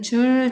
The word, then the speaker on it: 줄: 어떤 단위냐 하면 바로 J, 대문자 J라고 썼고 이걸 읽을 때 어떻게 읽느냐? 줄이라고 읽으면 됩니다. 즉 1뉴턴의 힘으로 물체를 1m 이동시켰을 때 한 일의 양은 1줄이다 라고 보면 되는 겁니다. 그래서 앞으로 일의 단위는 줄 단위를 사용할 것입니다.